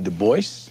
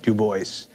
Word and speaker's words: Du Bois: Du Bois. Yes, he always insisted on that pronunciation. He did not like the Gaelic pronunciation, though in his antecedents he was partly French.